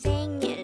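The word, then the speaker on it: 생일: in korean the korean term for birthday is saying again this is pronounced as a two-suitable word the first robot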